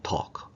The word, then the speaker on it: talk: talk가 아니고 L이 묵음이죠. They talk.